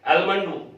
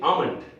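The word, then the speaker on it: almond: हैं, लोग बोलते हैं आलमंड ऑयल या आलमंड, वो भी गलत है, वो उसमें भी L साइलेंट है। हम सही अगर रूप में बोले तो इसको बोलेंगे आमंड, आमंड।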